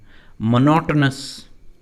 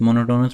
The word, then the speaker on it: monotonous: Monotonous, इसका pronunciation monotonous नहीं है, बहुत सारे students monotonous बोलते हैं लेकिन pronunciation है monotonous, means dull and boring.